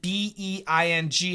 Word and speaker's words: being: Mohammed asks, B-E-E-N and B-E-I-N-G. Again, very different. B-E-E-N. This is American pronunciation.